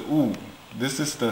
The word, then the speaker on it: 悟: So it pronounced as a Wu.